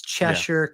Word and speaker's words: Cheshire: that doesn't know that he's either purposely or accidentally mispronouncing it, but we'd love for you to actually be in the correct town. So, it's Cheshure, Connecticut.